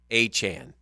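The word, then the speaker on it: Achane: I don't believe it a Chan Han a Chan that's how you say it a Chan yeah I don't believe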